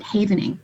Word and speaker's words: havening: it's something called havening think safe haven but that's how you pronounce it havening and it's self-hugging it's